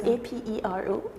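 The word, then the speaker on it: apéro: So it's a p e r o. A e r o. So there's an accent on the east. You go apero aero.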